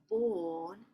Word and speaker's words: born: Okay, so I was born in Copenhagen. So it wouldn't be born or born with the R. Quitamos la A, la R es como un poco mudo. Or no se pronuncia tanto.